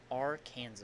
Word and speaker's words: Arkansas: Arkansas. Silent S. Silent S. Arkansas.